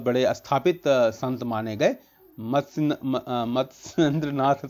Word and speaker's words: मत्स्येंद्रनाथ: ठीक है, मत्स्येंद्र नाथ, जो अब सही प्रोनाउंसिएशन मैंने किया, मत्स्येंद्र नाथ.